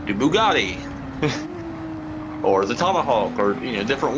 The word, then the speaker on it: Bugatti: that can be OP at times, like the Bugatti or the Tomahawk, or different ones.